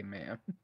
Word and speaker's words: ma'am: the A's yeah so m a apostrophe a m tablet Jerry put and BC chat that's a weird way to say man that is not that is literally how that is the proper way to say man right right okay so think